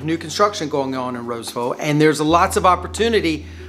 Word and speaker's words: Rolesville: Next up, we have the suburb of Roseville, North Carolina. Yes, it's spelled Rolesville, but all of us locals call it Roseville, so be prepared.